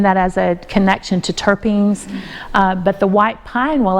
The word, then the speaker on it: terpene: volatile oils specifically the terpenes terpene what does that sound like Turpin thyme you're not drinking turpitide